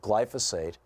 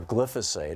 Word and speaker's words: glyphosate: They found elevated levels of glyphosate, or glyphosate, I've heard it pronounced both ways, which is the active ingredient in Monsanto's product Roundup, which is now Bayer's product Roundup.